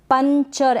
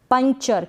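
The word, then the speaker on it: puncture: अब ये जो एन है ना इसका जो उच्चारण होगा थोड़ा सा होगा, क्योंकि ये आधा न है। पंचर, ऐसे नहीं बोलेंगे पंक्चर, नहीं, पंक्चर। क्या पढ़ेंगे, पंक्चर, पंक्चर। ये जो एन है ये बिंदी के रूप में क्या है, यहाँ पर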